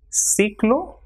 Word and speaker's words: ciclo: Same way, CERRAR will be pronounced as cerrar, and with I it will also be pronounced with the same sound. For example, CI will be C. So cine, ciclo, or cocina.